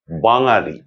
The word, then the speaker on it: বাঙালি: যেমন ধরুন, বাঙালি এই শব্দটিকে অনেকে উচ্চারণ করেন বাঙালি, অথচ এই বাঙালি ভুল উচ্চারণ, এটি করা চলবে না।